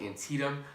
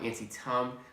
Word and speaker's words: Antietam: the battle Antietam and yes it's pronounced Antietam not an SI tongue or an tiene so the Battle of